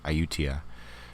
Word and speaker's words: Ayutthaya: Ayutthaya.